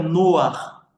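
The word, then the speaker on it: נח: casa pastor por quê Porque Noé em hebraico se pronuncia noar que significa alívio consolo e conforto ah pelo amor de Deus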